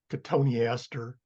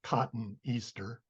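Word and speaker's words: Cotoneaster: agreed on for example in Latin every bow is pronounced hence we don't have uh we have katoni Aster not cotton Easter because the E and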